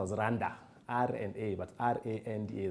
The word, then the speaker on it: R&A: And it's pronounced as Randa, R&A, but R-A-N-D-A, like Randa.